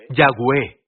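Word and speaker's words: Yahweh: yud Babi el señor este es yahwe los judíos lo pronunciarán como adonay porque están preocupados por tomar el nombre del Señor en vano pero su nombre es yahwe bien yud Babi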